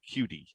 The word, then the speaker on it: Qt: yes oh that's funny qt i never really thought about it as uh quicktime i'm pretty sure qt is is meant to sound like cutie um in i meant